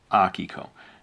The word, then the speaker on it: Akiko: And that's how, when I sat down to create Akiko, or Akiko, as I pronounce it. It's a Japanese name.